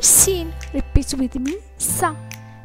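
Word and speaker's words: س: The letter sin, repeat with me, sa. The letter sa is pronounced like the clear English sound s in seat.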